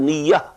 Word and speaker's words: niyyah: Niyyat is the plural of niyyah. This is commonly used in Urdu also. We pronounce it as niyyat. But this is niyyah in Arabic.